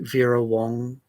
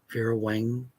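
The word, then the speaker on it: Vera Wang: which came with the ver Wong oh my God I said it wrong ver Wang doll um and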